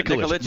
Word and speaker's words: Nikolic: Yeah, Nikolic.